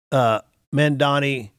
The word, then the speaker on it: Mamdani: Yes, mamdani, that's how you say his name?